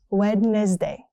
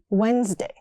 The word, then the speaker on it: Wednesday: Wednesday, not wedd day. It's simply Wednesday.